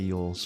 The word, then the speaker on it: Elwes: I'm a big fan of Carrie Yule's, okay? And you might know him as Carrie Elwes. His name is Yule's, but it's spelled Elwes, right?